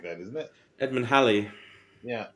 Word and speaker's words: Halley: So, you know, Well, Haley's Comet. It's Halley. Holly, like Yeah, Holly, I think, or something like that, isn't it? Edmund Halley.